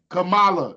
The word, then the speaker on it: Kamala: is not spelled no damn KLA her name is spelled k a m a Kamala I know how to sound I know how